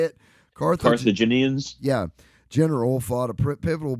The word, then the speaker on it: Carthaginian: Carthaginians?